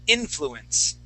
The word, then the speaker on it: influence: Okay, that word is going to be influence. Influence. Yeah, with the accent at the beginning.